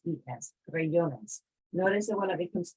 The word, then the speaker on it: crayones: So in Spanish, most of the time our emphasis is the second to last syllable, like crayones. Here, like with crayon, the emphasis is on the last syllable.